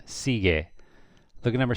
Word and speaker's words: sigue: G-U-E, so the U is silent. Sigue.